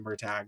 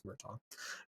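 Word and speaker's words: Murtagh: the new book Murtaugh I know he pronounced that mer tag but it's murton and you're the find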